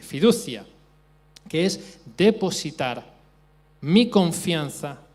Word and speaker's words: fiducia: Es la tercera, la fe fiducia o fiducia, como se pronuncia, fiducia, que es depositar mi confianza personal y total dependencia en Jesús.